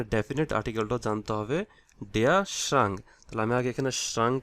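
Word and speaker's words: Schrank: আর্টিকেলটা জানতে হবে ডিয়া শ্রাঙ্ক তাহলে আমি আগে এখানে শ্রাঙ্ক লিখি এটা হচ্ছে এস সি এইচ আমি ইংলিশে বলতেছি এখানে লেটার গুলা আর এ এন কে শ্রাং ডে শ্রাং এটা জার্মান প্রোনাউন্সিয়েশন হচ্ছে শ্রাং তাহলে ডে থাকলে কি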